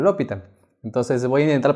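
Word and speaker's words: L'Hôpital: regla a la universidad el profe me decía que se llama hospital por eso que yo ya me acostumbré a pronunciarlo así pero por muchos comentarios de ustedes me dicen que tengo que pronunciaron lo pitan entonces voy a intentar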